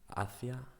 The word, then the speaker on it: hacia: Number two, hacia, hacia. Hacia is a preposition which means something like towards. Hacia is a past tense from the verb hacer, to do or to make.